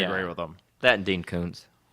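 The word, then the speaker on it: Koontz: with them that Dean Koons did you know it's actually pronounced cons I'm not making that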